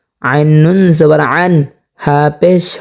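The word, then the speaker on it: عنه: অনেকে এটা পড়ে থাকেন আনহো, যদি আনহো পড়ে তাহলে কিন্তু সহি শুদ্ধ হবে না। এটা হলকের মধ্যখান থেকে অবশ্যই উচ্চারণ করতে হবে স্পষ্টভাবে, যেমন আনহু।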